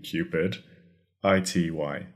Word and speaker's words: cupidity: It's spelled c-u-p-i-d cupid i-t-y cupidity.